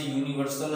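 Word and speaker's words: universal: इसी के साथ जैसे यूनिवर्सल है, यूनिवर्सल हो गया तो उसके पहले भी क्या लग जाएगा, ए लग जाएगा, यूनिवर्सल।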